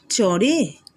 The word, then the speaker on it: চরে: দেখো চ ডয়শূন্য রয়কারে, এটা শুনে দেখতে কি মনে হচ্ছে? চরে। তো এখানে হবে চোরে, চয়ে এখানে একটা ই দেওয়া আছে দেখতে পাচ্ছ, এটা উচ্চারণ হবে চোরে, কিন্তু ওকার কিন্তু দেওয়া নেই, কিন্তু চোরে উচ্চারণ হবে।